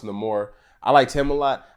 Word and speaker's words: Namor: um the antagonist also Namor and the movie is pronounced in the more I liked him a